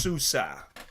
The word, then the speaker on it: Sousa: Pronounced Sousa.